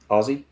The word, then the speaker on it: Aussie: always right, but naturally the way we say it is just basically replace the S's with Z's. Aussie.